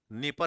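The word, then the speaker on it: Dnieper: और फिर रिवर का नाम क्या है, डनीपर, नीपर रिवर है, डी साइलेंट है इसके अंदर।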